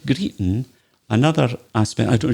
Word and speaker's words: greeting: that theme stop your greeting stop your greeting greeting g-r-e-e-t-i-n-g but again we'd miss out the g stop you're crying your